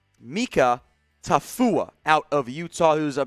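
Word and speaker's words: Mika Tafua: them as edge here out of utah it's pronounced mika tafuwa out of utah who's a bit of an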